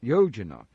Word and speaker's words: Yojana: as a unit of distance called, and you pronounce this again, Yojana.